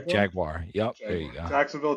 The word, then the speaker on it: Jaguar: Is it Jaguar? Is it Jaguar? What is Jaguar? Don't say wire. Say just like But the Brits say Jaguar, right?